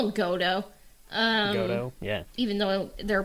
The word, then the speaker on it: Goto: don't know one of those I call them godo um yeah even though they're probably like the proper name is g-o-t-o and I'm like no one has time to